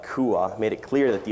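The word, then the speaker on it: quav: m word is spelled Q UAV V but pronounced Kua Kua ah yes Kua is the s word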